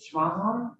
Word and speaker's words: Smaha: Is it Smaha? Or am I guessing wrong? Good morning. No, you are guessing correct, actually. It's pronounced just like it's spelled.